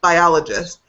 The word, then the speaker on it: biologist: We still say biologist. Because of that particular suffix, we don't change the stress.